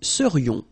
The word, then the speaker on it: serions: So then, final S not pronounced, and then this is this yon, yon. Remember, it goes in your nose, it's nasal. Yon, nous serions.